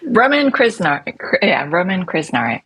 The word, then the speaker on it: Roman Krznaric: name I'm not even going to attempt to pronounce because you know how to say it properly. Kate Raworth's husband. Roman Krznaric.